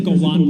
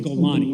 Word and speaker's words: Golani: The same way you said that there's a Golan brigade. There's no Golan brigade. It's called Golani.